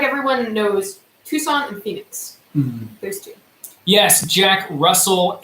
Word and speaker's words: Tucson: guys the answer so just a hug no Tucson Arizona is spelled like this and a lot of you